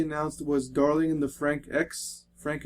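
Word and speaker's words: Franxx: X it's weird it's it's Frank with X two x's at the end but they pronounced the X so I think it's darling and the Frank X and that is a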